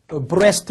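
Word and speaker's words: breast: 편한 하죠 그래서 여러분 브레스트 라고 하는 단어를 이스트 라고 하는 이동이 아니라 동쪽 하고 발음을 같이 하지 않는다 그쵸 그 다음에 여러분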